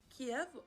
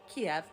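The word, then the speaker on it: Kyiv: Well, Kiev is actually the Russian pronunciation of the name of the Ukrainian capital city, while Kiev is the Ukrainian pronunciation.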